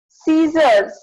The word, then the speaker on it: scissors: Scissors. In scissors, there is C is silent. C, there is no C sound.